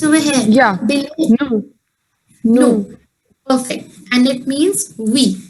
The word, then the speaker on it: nous: Similarly, in NOUS also the last letter S is silent. And VOUS was woo. NOUS will be no.